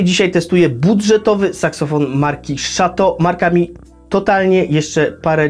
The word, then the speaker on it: Chateau: Inspiracją dla nazwy Shato jest rodzinne miasto pana Changa, które wymawia się podobnie do francuskiego słowa Chateau, które oznacza zamek.